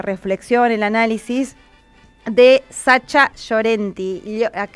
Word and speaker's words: Llorenti: Y para eso queremos escuchar la reflexión, el análisis de Sacha Llorenti. Nosotros decimos acá nosotras en Argentina Llorenti, pero se pronuncia más delicadamente Llorenti.